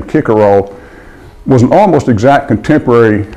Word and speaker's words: Cicero: anyway the Roman lawyer Cicero who would have pronounced his name kicker roll was an almost exactly